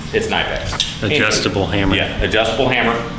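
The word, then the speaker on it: Knipex: All right, we got our fancy, I like to call these Nipex, some people call them Nipex, whatever, doesn't matter. You're saying it wrong, but it's Nipex.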